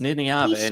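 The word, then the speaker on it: Nynaeve: It's also pronounced Niniave.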